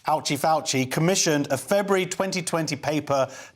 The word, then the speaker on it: Fauci: I would say there's there's a good rule never trust a man whose name rhymes with ouchy indeed emails show Dr fauci ouchy fauci commissioned a February 2020